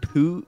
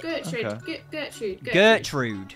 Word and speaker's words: Gertrude: Is it Putrid? Putrid? Gertrude? Not quite. How do you say it? Gertrude. Gertrude. Okay.